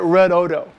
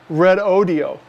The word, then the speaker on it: Redodo: video I called it red Odo because that's just what I see red Odo but I've come to learn that it's actually pronounced red audio so uh I apologize